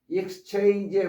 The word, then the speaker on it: exchange: 그런데 두 번째 exchange의 발음에서는 발음이 이 X가 X로 발음된다. X 뒤에 강세가 있습니다.